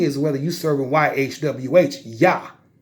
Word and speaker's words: YHWH: The key is whether you serving YHWH, Yah. And it's pronounced just Yah, not nothing else.